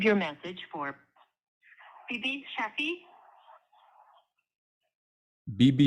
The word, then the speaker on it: Bibi: BB Shafi. So it's BB.